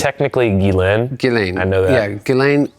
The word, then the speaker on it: Ghislaine: Is it when Ghislaine, how do you pronounce it? It's technically Ghislaine.